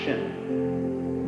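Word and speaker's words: 心: please pacify my mind in Chinese the mind is um this word pronounced shin and shin is here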